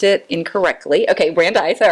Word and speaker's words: Brandeis: So she, did you meet her at, it was Brandis, right? Right. You we went, met at Brandeis. Okay. Our freshman Brandeis, year. I pronounced it. Yeah. Sorry guys, I pronounced it incorrectly. Okay, Brandeis, all right.